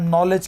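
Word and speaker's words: knowledge: आपसे पूछ सकता है नॉलेज की स्पेलिंग नॉलेज में नॉलेज में के के एन यूज होता है बढ़िया के साइलेंट हो जाता है ठीक है तो लेफ्टिनेंट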